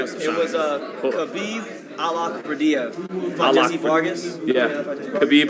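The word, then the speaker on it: Khabib Allakhverdiev: We put because he pronounced it right. I gotta give him some It shots. was Khabib Alakardiev from Jesse Vargas.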